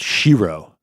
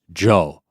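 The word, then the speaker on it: 城: that's awesome mhm and in Japanese Castle is pronounced Shiro but if you attach that on to the end of a word it's pronounced Joe so like Osaka Castle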